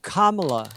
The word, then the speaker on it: Kamala: And I learned that if you say comma, then la, that's how she pronounces her name.